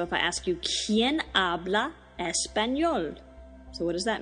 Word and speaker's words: habla: speaks in Spanish is habla h-a-b-l-a in Spanish there's one silent letter and it's the H so it's just pronounced habla so how would you